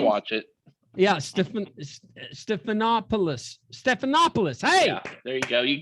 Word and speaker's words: Stephanopoulos: to watch your show just to hear me mispronounce everybody's name is that his name watch it yeah stephan stephanopoulos stephanopoulos hey there you go you got it there